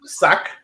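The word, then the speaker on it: Sak: S-A-K, sac. Sac? Yes, S-A-K, sac, like a sack.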